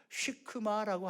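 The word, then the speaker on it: שקמה: 그리고요, 요 돌 무화과 나무는요 시크마라고 합니다. 완전히 발음 다르죠.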